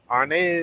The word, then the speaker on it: Arnez: I spell mine ARC. He spelled his ARS. Same pronunciation. Arnez. It's true.